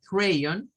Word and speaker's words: crayon: diría yo acá miren realmente para que suene a crayon pero en este caso la c sonaría más como una caja no como una s porque está al principio y este sonaría más que una o sonaría con este símbolo así con este